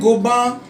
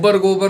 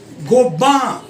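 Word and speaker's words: Gobain: शानेल perfume, Louis Vuitton, पियर कार्डन, Saint गोबान, L'Oreal. ये गोबर सुनाई दे रहा अब मुझे. जी गोबर नहीं है, गोबान. या तो गोबान बोलो या गोबैन बोलो. सैंट गोबान.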